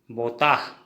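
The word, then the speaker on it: বতাহ: हवा, हवा को असमिया में बोताह कहते हैं। हवा को असमिया में बोताह क्या कहेंगे? बोताह। हिंदी में भी उच्चारण लिख के दिखा रहा हूँ, बोताह।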